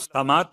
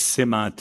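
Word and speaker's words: سمات: سے ایک دعا سماعت۔ اول تو اس کا تلفظ سماعت نہیں ہے، یہ اس سماعت ہے، تین کے نیچے زیر ہے، سماعتن جمعت سمتن، اس کا مفرد ہے سمتن۔ سمتن یعنی العلامہ، سما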